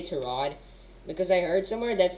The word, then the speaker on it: Tyrod: i'm so i'm sorry i'm getting used to say to rod because i heard somewhere